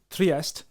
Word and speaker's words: Trieste: I think it's actually pronounced Trieste.